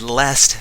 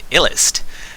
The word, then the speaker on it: Illest: Yes, we have RAR versus Lest. This is round 1 of play for Not So Stock Gaming's Icy Chiller's correcting me. Apparently it's pronounced Illest. That makes a little bit more sense.